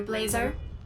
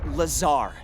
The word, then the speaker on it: Lazar: back thank you researcher blazer rangers this is laser blazer a researcher in our rnd department and it's sales liaison it's lazar actually accent on the tsar but yes i'm your